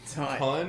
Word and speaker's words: Tonne: TONNE. Ton? Is it like I thought it was TON. No, It's pronounced the same way.